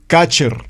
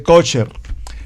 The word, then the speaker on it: kosher: escribe pastor es que no se dice kutcher se dice kosher bueno y eso me